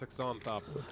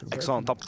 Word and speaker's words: Xanthopoulos: I believe it's Xanthopoulos. Xanthopoulos. That's what I thought it was. Xanthopoulos.